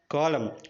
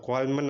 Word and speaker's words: column: Examples, first one కాలం, COLUMN. ఇక్కడ ఎం తర్వాత ఎన్ ఉంది కానీ మనం దాన్ని కాలం అనే అంటున్నాం, కాలమ్ అని అనట్లేదు.